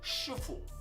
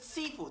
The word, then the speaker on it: Sifu: This is a southern style where people speak Cantonese, not Mandarin, and therefore pronounce it Sifu.